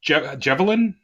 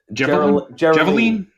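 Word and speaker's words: Jeryline: uh what's her name javelin how do you say her name uh i was a little confused myself but uh geraldine geraldine it's an r not a v that's me in my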